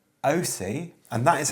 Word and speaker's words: Aoocci: we have been sent by a company called OC and that is how you pronounce it apparently there's loads of different pronunciations a o o c c i is how they we have to